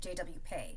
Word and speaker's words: JW PEI: large social media presence and she pronounces it JW Pay. So okay we're going to take Aria's lead and just go with that.